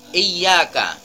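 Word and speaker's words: إِيَّاكَ: selanjutnya juga ada kata-kata Iya Kak Tidak boleh terlalu didengungkan masjidnya dan ianya hanya sebatas dua harokat et aka tidak boleh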